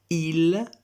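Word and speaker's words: ils: Je, tu, il, elle, on, nous, vous, il, elle. Come potete notare, il e elle al plurale si pronunciano esattamente come il e elle al singolare perché la S finale è consonante muta in francese, generalmente muta.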